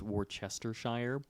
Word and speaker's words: Worcestershire: sauce and then yeah too many syllables I thought it was Worcestershire I think that is a colloquialism that we've all just come to it is it I think it's war chestershire no one [ __